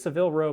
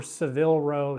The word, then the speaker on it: Savile Row: gives oh no no this is Seville row bespoke generally you have to be careful with Seville row and this is how you spell it s-a-v-i-l-e because some Brands will